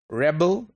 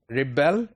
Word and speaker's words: rebel: its verb convert its noun convert it's the rebel its noun rebel its work so you see that these spelling